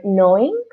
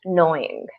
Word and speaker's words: gnawing: So it's interesting the way you pronounce the word knowing, Mm, right? So the G is silent. yeah. Okay, so you take out the G and it's just knowing.